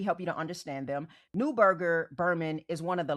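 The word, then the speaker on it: Neuberger Berman: And depending on where you're from, some people do pronounce it as Newberger Burman. Okay? But I am American, so I pronounce it Newberger.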